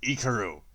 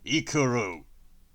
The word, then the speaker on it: Ikaru: For fuck's sake, that's not my actual name! It's Ikaru. Ikuru.